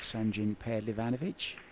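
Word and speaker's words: Sanjin Pehlivanović: one of the first names I learned to pronounce sanin panovich yeah it's one of them words I like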